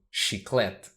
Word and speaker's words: Chiclete: brand Chiclets but because though in English CH is usually like cheese in Portuguese CH is always pronounced so she clet I personally never called